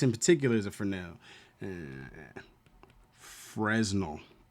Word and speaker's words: Fresnel: Fresnel. But it's pronounced Fresnel, or at least that's how I've pronounced it over the years.